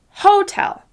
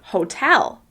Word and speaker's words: hotel: If you're not stressing the second syllable of that word, hotel, it's going to sound a little off.